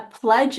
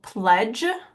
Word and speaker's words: pledge: double consonant F uh pledge is really difficult because you actually don't hear the D very clearly so pledge I would just try